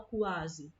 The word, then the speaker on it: quase: se separam certos é o caso da palavra quase olha como é que a gente tem um filho que não fala quase ele fala quase quase é o mesmo